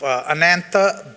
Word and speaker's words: Anantha: And a few words about myself, Anantha, that's how we pronounce my name. Anantha sounds, rhymes with Samantha. So drop the S, you got Anantha, and is a good old Texas name, Billy Bob.